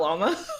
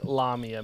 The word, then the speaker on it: Lamia: or even I think another way they pronounced it was llama lamia not llama not llama yeah I looked it up there was a bunch of pronunciations it was like lamia lamia um or something like that it really depends on who you ask yeah I think lamia makes the most sense personally but yeah so